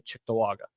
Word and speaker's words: Cheektowaga: You say Cheektowaga or you say Chicktawaga? How do you say I it? say Cheektowaga. I say Cheektowaga too. I say cheek too. But there are people who say like Chicktawaga.